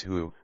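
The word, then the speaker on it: 呼: associated with the kidneys who pronounced like who which is associated with the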